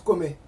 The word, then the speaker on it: Kemet: Kemet, ça se prononce Komé. Oui, Voilà, c'est Oui. Komé en copte.